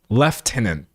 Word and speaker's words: lieutenant: Lieutenant, which is pronounced lieutenant because it says lieutenant. Do you know how this is pronounced by some British people? It's pronounced left tenant. They put an F in it.